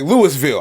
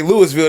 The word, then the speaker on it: Louisville: Or like even if you like Louisville, I say Louisville, they be like, oh, we from Louisville. That's not the pronunciation.